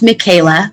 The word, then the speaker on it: Michaelah: thank you claudine and my name is pronounced michaela but that is okay